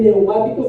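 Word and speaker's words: πνευματικός: Se lee neumáticos, pero le pone como se escribe psicología, con la P primero. Y usa la K, neumáticos.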